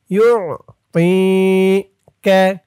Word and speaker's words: يعطيك: বলতে হবে তি, মুখটা একটু গোল ভরপুর হয়ে যাবে তর উচ্চারণটা করার সময়। ইউ তি কে, ইউ তি কে, ولسوف